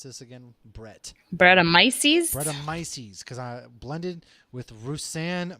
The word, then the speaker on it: Brettanomyces: It's a golden sour aged with hey, how do you pronounce this again? Brettanomyces? Brettanomyces, because I blended with Roussanne Must.